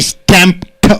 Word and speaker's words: stamped: I stamped on the floor. Stamped. t sound should come.